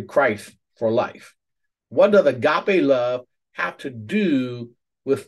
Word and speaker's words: agape: it is actually the lexical transliteration that that pronounced as agape and it is it is a type of